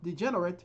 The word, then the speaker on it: degenerate: Now, degenerate here is a verb. The second syllable is stressed.